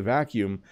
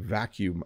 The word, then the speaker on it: vacuum: because I need to vacuum my room um and I will say this too uh it's a tricky word to pronounce because of when you see it but it actually isn't too bad vacuum vacuum to vacuum